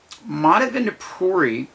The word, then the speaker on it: Madhavendra Puri: way that everything is very much connected now madhavan to poori is how you say he's essential in the